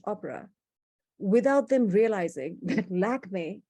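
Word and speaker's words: Lakmé: in india is named lakme after this french opera without them realizing that lakme is the french mispronunciation of the indian word for the goddess lakshmi and so you can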